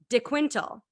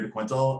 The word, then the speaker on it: De Quintal: I'm absolutely right um so typically I'm just yeah I'm Constable to Quinto uh it just it's easier for people to pronounce and stuff um but yeah that's the Portuguese way and like the proper way I guess saying my